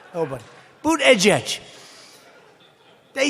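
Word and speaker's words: Buttigieg: edge booed edge edge they said think of it as boot and then edge edge because nobody can pronounce this guy's name oh but boot edge edge they say boo dead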